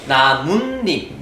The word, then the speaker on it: 나뭇잎: 훗일 나무라는 단어와 잎이라는 단어가 있는데 또 모음이라는 이 앞에서 나뭇잎 니은 발음이 날 때 뭐를? 시옷을 쓴다.